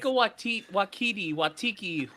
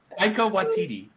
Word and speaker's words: Taika Waititi: It's like Taika Watiki, literally anything like that, man. I'm actually gonna. Wachacha. Okay, I'm gonna call him Wachacha. Taika Waititi.